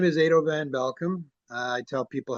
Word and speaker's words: Edo van Belkom: My name is Ado Van Bealcom. I tell people how to pronounce the name. It's Ado like potato and Van Belulkum like you're welcome.